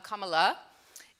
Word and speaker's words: Kamala: and yes for the record her name is pronounced Kama like put a comma after the word an sometimes um Kamala and she is 60 years old she's from